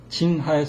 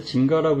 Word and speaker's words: 징하: 자, 자궁근종은 한의학의 징하에 속합니다. 이거 하자인데 징가라고 읽는 사람이 많은데 사전 좀 찾아보시기 바라고요.